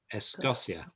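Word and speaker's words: Escocia: karen um escochia uh well it's got the two sounds of this of the c in there hasn't it c followed by o is uh a hard k and when it's followed by an e i it's a sur sound so it's es yacia es gosia which is which means which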